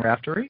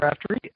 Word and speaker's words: Raftery: a question for Rapter uh am I saying that right right yeah it's is rapt it's a sort of a strange Irish variant so I never I